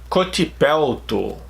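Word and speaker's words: Kotipelto: the singer for Stratovarius, Cotipelto. We could have something like this in Portuguese, but with a C instead of a K, Cotipelto. But it's pretty much how I pronounce.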